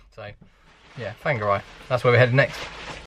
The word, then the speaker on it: Whangarei: Kauri Tree Park, yeah, in Whangarei, which is spelled W-H, not F at the start. We were calling it Whangarei for a long time, and then I looked in the book, and W-H, anything W-H in New Zealand at the start is not W.